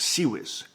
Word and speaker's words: CIWS: akin to a cannon called the ciws but pronounced sez this is a deck gun whose fire is